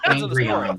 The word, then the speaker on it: Angron: Angron. Depends on the part of his story. It's pronounced Angry-on.